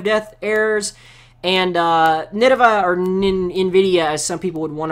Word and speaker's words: Nvidia: Well, the heated most Zephyr, it's pronounced Nvidia. Well, I sometimes say Nidava, others pronounce it Nvidia, others even say Ninvita or whatever.